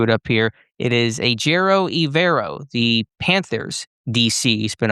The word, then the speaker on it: Ejiro Evero: It is, and I just lost where my pronunciation was at, so I just don't want to screw it up here. It is Ejiro Evero, the Panthers DC.